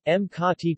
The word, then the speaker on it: Makati: Makati, Makati Tagalog pronunciation, Makati, officially the city of Makati, Tagalog,